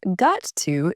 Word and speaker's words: got to: It sounds like a D.